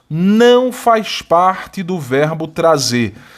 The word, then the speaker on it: trazer: Eu quero analisar o verbo trazer. E veja que a sílaba tônica é essa aqui, olha. Trazer. Qual é a sílaba tônica? É a última.